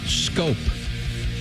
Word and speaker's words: Schoop: spelled like shoop. Yep, SCHOOP. Yeah.